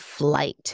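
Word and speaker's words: FLYT: Up next, we have STAYC with Teddy Bear, done by Black Eyed Peas song, Jonggun, and also someone named Flight. It's spelled F-L-Y-T.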